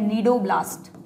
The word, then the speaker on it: Cnidoblast: है जिसका नाम है नीडो ब्लास्ट सी साइलेंट नीडो ब्लास्ट या स्टिंग